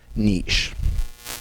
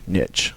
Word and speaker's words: niche: small portion of that Niche Niche or Niche both acceptable pronunciations and so maybe it's